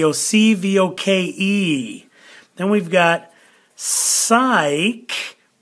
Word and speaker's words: psych: voke then we've got psych the P is silent psych then we got mem